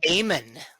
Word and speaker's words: Amen: Amen.